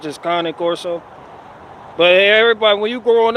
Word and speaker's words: Cane Corso: So Cane Corso Italiano, or some shit like that. It's like carne asada, but without the R and carne, so it's just Cane Corso.